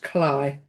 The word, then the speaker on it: Cley: We also have some funny pronunciations of names in Norfolk, and this, as I said, this is Cley Beach, which is Cley, pronounced Cley. And there's Cromer Pier in all its glory, which is where you will end your Norfolk Coast Path walk.